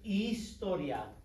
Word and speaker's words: historia: All right, classy, let's look at this word right here, historia. H is silent, right? Historia.